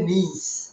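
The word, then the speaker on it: niece: পারেন নেফিউ অনেকেই বলেছেন নেফিউ না এটা হবে নিজ এটার উচ্চারণটা কিন্তু নাইস বলে অনেকে ভুল করে নাইস হবে দ্যাট উইল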